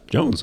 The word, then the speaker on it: Joens: walked up to Carson I think it's Jones Jones they're gonna misspell my name they're gonna miss you mispronounce it until you look at it oh yeah it's just Jones okay yeah uh what's